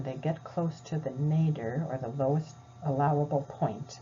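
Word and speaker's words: nadir: rebound so when they get close to the nader or the lowest allowable point and nader is spelled n-a-d-i-r they'll give the gcsf and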